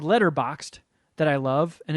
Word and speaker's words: Letterboxd: there so the letterbox d game for people that aren't familiar there's a a movie app called letterboxed that i love and initially mispronounced the name as letterbox d so that sticks so